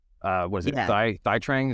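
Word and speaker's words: Thuy Trang: Thai Trang? Is that how you pronounce it? Tui Trang.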